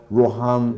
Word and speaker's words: Rohan: Bu adam 50 yaşındaki ismini burada Rohan diye telaffuz edeceğim.